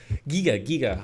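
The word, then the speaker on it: Giger: It's H.R. Geiger. So yeah, that's Giga, how you would say it in German.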